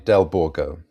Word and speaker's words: Delbourgo: I pronounce my last name Delborgo.